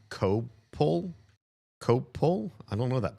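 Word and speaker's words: Coppell: That's uh that one is said co c copple. Coppel. I could I could see people pronouncing it both ways.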